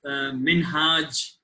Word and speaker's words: Minhaj: hi good evening uh my name is pronounced it's minhajj amin hajj i mean but the americans have i used to work with have made it as min so easy for pronouncing and for everyone is what people call me and my background is